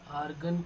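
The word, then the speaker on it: Argand: D silent रहता है, आर्गन plane.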